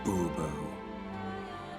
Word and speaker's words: Bourbeau: Fine, Monsieur de Bourbeau. The emphasis falls on the last syllable.